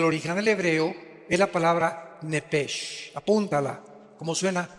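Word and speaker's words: נפש: Digo, por favor, esta palabra alma en el original hebreo es la palabra nepes. Apúntala como suena nepesh con sh se pronuncia nepjeg.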